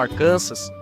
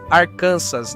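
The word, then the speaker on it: Arkansas: Ao contrário de outros estados, como Arcansas, número 49, pronuncia-se Arcansas, não arcansas, porque o nome vem da tribo Quapal, da região.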